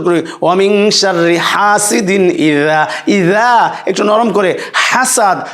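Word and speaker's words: إذا: এই যে হার উচ্চারণটা আবার খেয়াল করুন, ওয়া মিন শাররি হাসিদিন ইদা হাসাদ। এই যে ইদা, জালটা একটু নরম হবে, হ্যাঁ, যেমন জিম, জিম শক্ত হবে, কিন্তু জাল যেমন জিম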